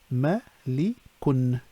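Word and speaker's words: مَلِكٌ: Okay, so if we look at an example of this, it'll be malikun, so it adds the un sound at the end of the word when the dhamma is added.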